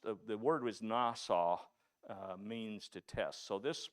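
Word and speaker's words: נסה: in this context means to test uh it's pronounced the word is nasau means to test so this story is a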